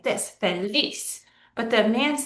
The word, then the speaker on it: feliz: So the word feliz is pronounced like this, feliz.